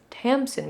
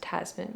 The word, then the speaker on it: Tamsin: It's Tamsin Muir, not Tasman Muir.